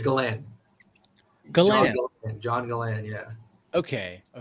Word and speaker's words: Galan: last name like that, I've had so many different like pronunciations of it. I've had Galan, Galan, Galen. What I don't even know other ones. Somebody really butchered it. I totally forgot, but it's Galan.